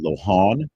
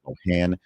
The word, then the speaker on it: Lohan: Much like Lindsay Lohan, not Lohan, there is a proper pronunciation.